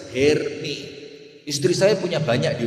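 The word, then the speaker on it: Hermès: Tas Herpes tahu? Tas mahal itu apa? Herpes. Kalau herpes apa? Oh, itu cara bacanya bukan herpes, Bu. Herm.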